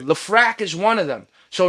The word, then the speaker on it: Lefrak: He said he knows the dude that owns the buildings in Left Rack, and it's not Lefrak City. It's not pronounced Left Rack. It's Lefrak.